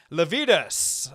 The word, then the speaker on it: Lavedas: got Mr Steven lavidas am I saying that right Stephen you did I have had a lot of practice at this point given that I've spelled your name wrong and all for those that that need the the memory thing it's uh lvus like fajitas uh that's what I'm